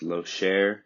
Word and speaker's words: Locher: Yeah, I see that last name looks a little bit weird, but it is pronounced Locher. It's a French pronunciation.